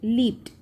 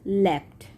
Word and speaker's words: leapt: Now this leapt word, few of people they pronounce it leaped, but it is leapt.